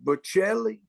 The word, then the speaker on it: Bocelli: Andre Bocelli.